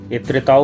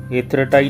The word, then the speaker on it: Étretat: পড়লাম এট্রিয়াট যাওয়ার উদ্দেশ্যে অনেকে এটাকে এত্রেতাও বলে অনেকে এট্রিয়াটও বলে তবে ফ্রেঞ্চ উচ্চারণটা এত্রেটাই ঠিক আছে সকাল সকাল পৌঁছে গেলেও